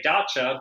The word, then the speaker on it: dacha: Yeah, well, hey, that's not my world of things, but I say dacha. But Marjorie Post was an avid collector of French and Russian decorative art. So the dacha comes from the Russian side of things.